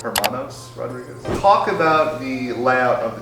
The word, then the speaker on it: Hermanos Rodríguez: First of all, how do you pronounce the name of the track? Auto Dromo Herand Hermandez Rodriguez. Hermanos Rodriguez.